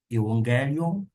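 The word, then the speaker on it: εὐαγγέλιον: Coloca o N, o som de N antes do G. Evangelion significa literalmente evangelho.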